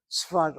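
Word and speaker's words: צפת: Or the word is in English pronounced as Safed, S-A-F-E-D. Tzfat, I'm writing the Hebrew out for you.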